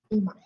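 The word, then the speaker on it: 今: So ima. So if it's only this kanji, then you use the kunyomi, which is ima.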